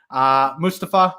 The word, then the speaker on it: Mustafa: Mustafa, excuse me, if people are going to be pronouncing his name properly, I should also get on top of that, rightfully so.